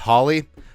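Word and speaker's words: Hawley: pride of Howley Minnesota I know it's pronounced Holly and people scold Us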